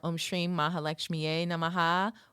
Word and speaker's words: Om Shrim Maha Lakshmiyai Namaha: Pronounced Om Shrim Maha Lakshmiyai Namaha.